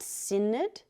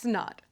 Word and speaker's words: Synod: S-Y-N-O-D Okay, then isn't it pronounced SIN-ODD? It's pronounced SNN-ODD.